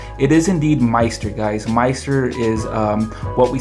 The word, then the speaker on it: MSTR: We hear some people pronounce it as Meister or Mister. It is indeed Meister, guys.